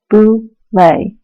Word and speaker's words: Boulet: It's French, too, so you say it Boulet, not like the bowl you put Captain Crunch cereal in for breakfast.